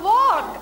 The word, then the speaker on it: walk: L is silent.